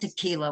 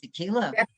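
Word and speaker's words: תְּפִלָּה: Ki hu yom tequila. Tequila. Not tequila. What are you talking about here? Tequila?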